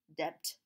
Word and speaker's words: debt: There's some words with silent letters, such as listen, listen, or debt, debt.